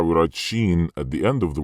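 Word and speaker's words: ش: Sheen, Jim, and yeah. This is how we write it. Sheen, how to pronounce the letters with short vowels.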